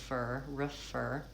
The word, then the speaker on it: refer: Fur, it goes from the F directly into the vowel, and then refer, a shortened, reduced I vowel, refer.